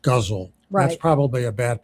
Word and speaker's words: ghazal: It's spelled g h a z a l, but it's pronounced guzzle.